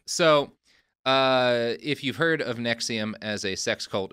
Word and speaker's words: NXIVM: NXIVM, so not the heartburn medication. Truly, but it's the same name.